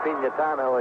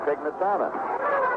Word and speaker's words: Pignatano: Letters used to come in from people saying it should be pronounced Pignatano, and Joe said he preferred Pignatano.